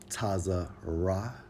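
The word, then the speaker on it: צָרָה: strong's h 68 69 pronounced as taza ra which means straights what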